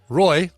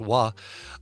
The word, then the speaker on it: Roy: out this last Friday it's called Roy r-o-y or if you're a Canadian hockey player it's pronounced wah um which might be